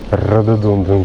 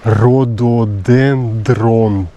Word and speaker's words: rhododendron: here 100 m Here in this direction Radonden Park there was a sign It's quite possible that I'm pronouncing it incorrectly The word is too tricky 700 m Rhododen No, what's correct rhododendron park Radoden Park How come I shortened the